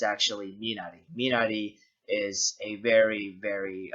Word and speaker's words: Minari: oh and uh if you think that i'm pronouncing minari wrong no you got me manari is not how you say the film's title it's actually minari minari is a very very uh fermented a